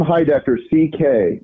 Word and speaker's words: Heidecker: that that happens well it's Tim hi doctor CK not GG you're you're connecting me to um a German philosopher from the 19th century